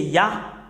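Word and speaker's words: יה: Concernant la prononciation de Yod et He, c'est Yah. C'est Yah qu'on prononce.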